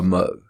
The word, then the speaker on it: mho: Conductance, they called it a mho. M-H-O. Where did they get that name? It wasn't Larry and Curly's friend. No, that's spelled differently.